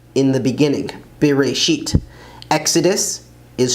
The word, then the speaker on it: בראשית: So Genesis is Bereshit, in the beginning, Bereshit.